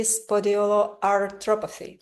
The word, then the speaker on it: spondyloarthropathy: today we will discuss with David his health journey of healing autoimmune inflammatory spondyloarthropathy, right? Am I pronouncing Right.